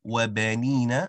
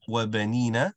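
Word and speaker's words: وبنين: So firstly, the words wabanina and wayaj'al, the ba and the ya, so on the track, so wabanina, wayaj'al, rather those sounds should be basic accents.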